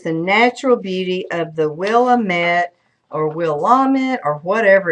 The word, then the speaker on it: Willamette: Turns out that Willamette is actually pronounced Willamette.